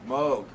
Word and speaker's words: Moog: that apologized for moog i always mispronounce that do they even talk about moog rhymes with rogue moog it's it's it apologizes